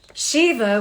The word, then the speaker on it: Shiva: weapon of the Gods Shiva with pre- pronounced sh Eve Shiva Shiva Shiva it is said was